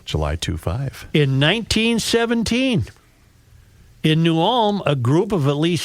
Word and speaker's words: New Ulm: I believe New Ulm is 3 syllables.